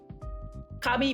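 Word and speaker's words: 上: But Rokoro, isn't this ue? This is the usual pronunciation. The kami here is usually reserved for names.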